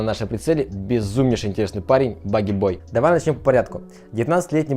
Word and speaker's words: Bogey Boi: Его никнейм это не Пугало и не Домовой. Он связал его с персонажем из фильма, потому что у них были очень похожие черты лица. И правильное произношение будет именно как Bogey Boi.